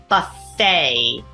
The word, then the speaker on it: buffet: five words from today the first one being Buffet sounds like it ends with the name why